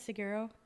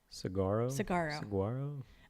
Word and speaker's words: Saguaro: So we also went to Seguro. Is that how you say it? Seguro? Saguaro.